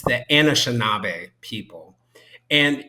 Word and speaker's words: Anishinaabe: But it's the Anishinaabe people.